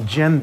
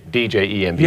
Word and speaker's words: djembe: And this drum is called a djembe. It's a chalice-shaped drum. It's an African drum, and the word djembe is from the Mali, and it means let us gather together in peace.